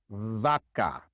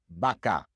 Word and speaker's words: vaca: So for example, in words like vaca, cow, the great majority of Spanish speakers do not say vaca. They say vaca.